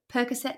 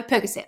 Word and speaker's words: Percocet: So what they find is marijuana, and she also had Vicodin and how do you say it? Percocet? No, Percocet.